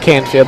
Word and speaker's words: Canfield: it is Faith Canfield it is Faith Canfield that is the correct pronunciation of her name the sophomore second basement